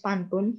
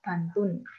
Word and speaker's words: pantun: dalam bahasa Indonesianya kalau Seharusnya kan poim itu kan pantun tapi di buku tersebut menggunakan istilah bantun jadi untuk menunjukkan bahwa si Ernest itu suka eh apa ya pelafalannya itu beda enggak sesuai gitu harusnya pantun tapi dia jadi pantun ya ya mungkin bisa